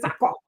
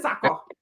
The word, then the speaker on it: Sako: You sucking one woman says Sheikh Sako. The man told me how to pronounce it. He said Sako. I pronounce it Sako.